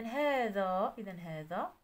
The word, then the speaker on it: هذا: إذا غنكتبو بالنسبة للخانة الأولى اسم الإشارة حذف ألفه رسما، إذا اللي كنطقو الألف وما تنكتبوش غنكتبوها في الخانة الأولى، واللي تنطقو الألف وتنكتبوه في الخانة الثانية. إذا هذا الخانة الأولى، هذان كذلك